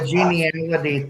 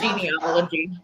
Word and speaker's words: genealogy: Yeah, the the geneality thing. Geneality. Well, how do you say it? Genealogy. Oh, I think genealogy.